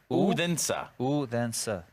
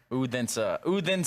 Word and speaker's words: Odense: You've forgotten how to pronounce it after the first week. Ready? Like with me. Odense. Odense.